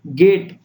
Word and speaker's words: GOAT: जैसे कि GOAT, इस शब्दों का हम गोट इस तरह पढ़ेंगे, यहाँ ए साइलेंट है।